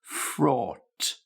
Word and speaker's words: fraught: Third word frought fraught. Now think of the word taught, teach taught.